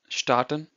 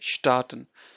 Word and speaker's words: starten: The verb is starten. So the pronunciation is different. So here you say start, here you say starten. So to pronounce this S over here, it's sh of show.